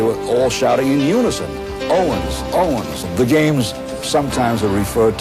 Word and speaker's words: Owens: crowd of 120,000 shouting, "Orven, all the W in German, you know, pronounced as a V." And they were all shouting in unison, "Owens! Owens!"